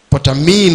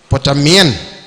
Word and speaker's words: Potamien: Is that the pronunciation? Potamine or Potamien? Potamien.